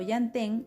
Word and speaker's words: llantén: Por ejemplo, llantén empieza con yan, la primera sílaba, como llanta.